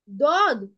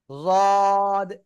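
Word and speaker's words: ض: দদ। হুম। দদ। মুখ বড় করে উচ্চারণ করেন। দদ। দদ, এভাবে। জদ। জ। ওকে, দদ জদ আপনি যে কোনোটাই বলতে পারেন, সমস্যা নাই, হ্যাঁ।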